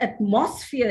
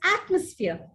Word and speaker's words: atmosphere: pronunciation it is advertisement it's not atmosphere if you say atmosphere for to a native speaker he would wonder he would perhaps think of something to do with fear right so it's atmosphere atmosphere it's not almond